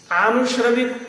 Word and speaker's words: आनुश्रविक: अनु तो नहीं ना, फिर क्या बोल रहे हो? आनुश्रविक उच्चारण ठीक नहीं, आ दीर्घ है, आनुश्रविक है थोड़ा था।